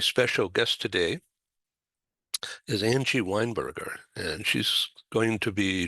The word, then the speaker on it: Weinberger: I had a friend from New Zealand, and she thought it was Weinberger, yeah, as in the drink and the type of food.